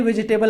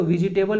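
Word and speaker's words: vegetable: तो बहुत लोग इसको विजिटेबल वेजिटेबल पढ़ते हैं तो इसका जो करेक्ट प्रनंसीएशन होता है यहां पर आई जो होता है ऐसे साइलेंट होता है हम लोग इसको प्रोनाउंस करते हैं वेजिटेबल क्या होता है वेजिटेबल वेज हो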